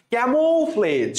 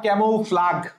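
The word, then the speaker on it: camouflage: আচ্ছা, ক্যামোফ্লেজ, সঠিক উত্তর হচ্ছে ক্যামো। মনে রাখতে হবে CAM প্লাস, এভাবে পড়বা, ক্যা plus Mou, ক্যামোফ্লেজ plus FLAGE, ক্যামোফ্লেজ, নট ক্যামোফ্লাগ। কি উচ্চারণ করবো আমরা?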